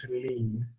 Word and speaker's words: Helene: And that, ladies and gentlemen, I learned how to pronounce it. It is Helene.